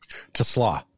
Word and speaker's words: TeSlaa: say your last name the slaw Tesla okay like the like the extra a is a w I don't know how